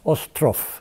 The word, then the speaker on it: Ostroff: Did I pronounce the last name right? Correct. Ostroff? Ostroff. Ostroff.